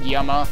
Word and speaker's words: Llama: that uh that town presumably given that everything else has had a Spanish name that town is actually pronounced Yama which I'm pretty sure